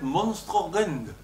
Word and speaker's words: monstrum horrendum: Le fameux monstrum horrendum qu'on cite parfois se prononce en fait monstrorend.